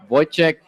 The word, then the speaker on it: Wojciech: How do you pronounce his name? Wojciech.